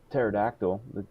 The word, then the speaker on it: pterodactyl: love that that uh pterodactyl the the p is silent yeah so you know